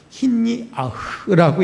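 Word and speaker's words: הִנִּיחַ: 남겨두신, 힌니아흐라고 읽는데 머물다, 사역형으로 말하면 머물게 하다 이거예요.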